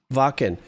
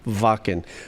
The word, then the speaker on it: Wacken: Wacken.